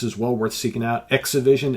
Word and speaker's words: ExhiVision: Exivision, it's spelled ExhiVision, but of course you'll see that in the description of the video below.